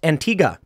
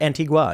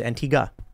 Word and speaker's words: Antigua: grab some more Stanford says it's pronounced Antiga there you go not Antigua it's Antiga Grand standing and hot